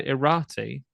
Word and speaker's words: Irati: And just spell that for me again. So Irati.